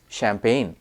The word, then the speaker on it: champagne: c a m p a g NE e champagne c h a r i s m a